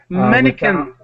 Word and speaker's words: mannequin: you with mannequin so just the k sound manquin yeah with that word mannequin all right and so the qu is pronounced as a k and here are some